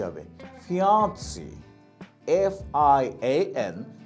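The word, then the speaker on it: fiancée: বলি এরপরের শব্দটা কি ফিমেলের ক্ষেত্রে কি হবে ফিয়ানসি এফ আই এন সি ই ফিয়ান ফিয়ানসি person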